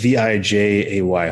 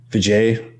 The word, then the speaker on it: Vijay: Tau, and Vic VJ, I'm not exactly sure how to pronounce his last, V-I-J-A-Y. Hopefully I said that right. So congrats to those two guys for going undefeated. Did you say his last, his name is ZJ? No, VJ. Vijay. Maybe the H isn't, the J is an H sound.